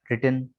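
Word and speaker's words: written: तो डब्ल्यू के साथ आर मिले आपको, तो डब्ल्यू आमतौर पर साइलेंट होगा। ठीक है, right, road, रिटन, राइटिंग, रिस्ट, rap, wrong.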